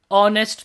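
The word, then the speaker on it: honest: अच्छा, अब कुछ हमारे वर्ड्स है जैसे कि आर, ऑनररी, ऑनेस्ट, तो इसके अंदर ये एच होते हैं, ये साइलेंट होते हैं, है ना।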